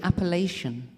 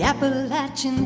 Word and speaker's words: Appalachian: I'm trying to learn see we say appal and I've been told many times that that's wrong you cannot pronounce it that way it has to be Appalachian anyway thank you